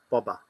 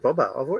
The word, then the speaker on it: Boba: I don't know bobber when you say Bob here in Australia don't we not yeah we said Bobo it's always been bobber for me I haven't said Boba Fett and I think the Americans say Bobo don't they maybe yeah but this